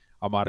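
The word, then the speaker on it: አማርኛ: is in English, but it's called Amharic, or for those that can roll your R's, Amarinya. Yeah. I know that's a little tough there, but Amarinya.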